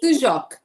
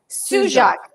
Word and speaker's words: Sujok: Sujok. Sujok.